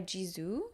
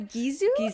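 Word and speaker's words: Gisou: nigging she's Persian oh it's gizu okay I was thinking like bizu like a kiss but okay got it yeah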